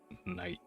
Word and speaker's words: knight: pronounced at one time like the word knight k-n-i-g-h-t all those other letters used to be pronounced so like back in whatever english old english middle english that word used to be pronounced kidnagueta but no one sells and then like you know language changes over time so now it's uh night tonight connect night i